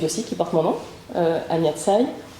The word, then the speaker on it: Tsai: J'ai une chaîne YouTube aussi qui porte mon nom, Anya Tsai. Ça s'écrit S-A-I, Anya A-N-Y-A.